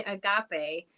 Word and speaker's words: agape: um some students and the word was agape and uh everyone kept on um mispronouncing it as a gape almost it was it was